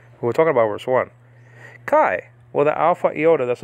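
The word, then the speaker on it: καί: greek word kai now the modern pronunciation is actually ke so they pronounce that diphthong alpha iota e in modern uh terms but in biblical pronunciation is pronounced i so this word is pronounced kai and that word can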